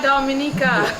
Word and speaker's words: Dominica: could get everything from Dominica we are Dominica we call it Domin the yeah we